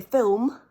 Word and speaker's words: film: I think, possibly, that we pronounce the word film with 2 syllables, because it's much easier to swallow the L at the back of the mouth and go straight into an M and say film.